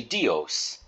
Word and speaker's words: Dios: Amore de and then dios is actually two syllables combined together D E and O so you've got the letter D so you would pronounce that d e and then o as in host or most so we'd say dios and we'd put that